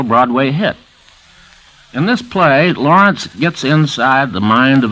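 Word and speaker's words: Laurents: the brave by arthur lawrence the author pronounces his last name like gertrude lawrence or lawrence of arabia but he spells it l-a-u-r-e-n-t-s however he spells it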